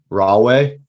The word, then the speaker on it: Rahway: Rahway?